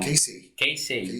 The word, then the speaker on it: Keisei: O nome da sua academia, me corrija se eu falar a pronúncia errada, tá? É Keisei mesmo. Keisei, legal.